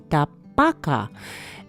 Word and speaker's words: tabaka: pan for that and the correct pronunciation of this dish is actually chicken Tabaka and that's what this